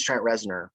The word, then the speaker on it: Trent Reznor: at first i thought i was getting the name wrong so it is trent rezner right yeah and he was in a perfect